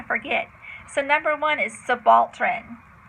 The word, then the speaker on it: subaltern: don't want to forget so number one is subaltern it's the balton and it's um ooh I